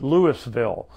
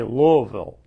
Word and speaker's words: Louisville: them louisville sluggers and some people that are really farther away from kentucky even call it lewisville but that because that's the way it's spelled but if you're from kentucky they say louisville and uh that's where